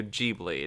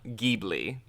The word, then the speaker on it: Ghibli: yeah but it is it is studio jeebly not ghibli so thank you um